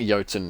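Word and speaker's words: Jötunn: but it wouldn't load you just said pronounce yotan with Y that's fair enough I think I think yatin is probably the correct pronunciation it unless it's pronounced IDI eaten is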